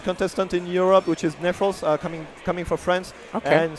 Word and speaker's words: Neffros: Is that how you pronounce his name? Neffros, yes.